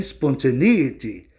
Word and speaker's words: spontaneity: você pronuncia ont mas a sílaba tônica não é a i a sílaba tônica vai ficar em e no ditongo e i por quê Porque a